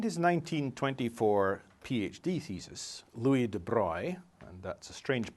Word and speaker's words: de Broglie: In his 1924 PhD thesis, Louis de Broglie, and that's a strange pronunciation for an English speaker, it's a French pronunciation of that spelling, but that's the guy's name, made a deceptively simple proposal.